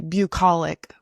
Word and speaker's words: bucolic: Sometimes words, it's difficult to predict what the pronunciation is. Yeah, I said it correctly. Bucolic.